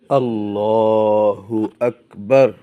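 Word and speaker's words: الله أكبر: আল্লাহু আকবার, আল্লাহু আকবার। আল্লাহ না বলে আল্লাহ বলতে হবে। আল্লাহ না বলে আল্লাহু বলতে হবে। হু স্পষ্ট করে উচ্চারণ করতে হবে।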